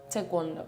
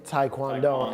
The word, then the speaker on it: taekwondo: You say it properly. Tekwondo. Yeah, cuz I say taekwondo. I say that, too.